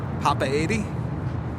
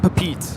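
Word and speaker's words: Papeete: it's pronounced differently so pop by 80 Papa 80. it's definitely not papeet I've heard that too yes I watch other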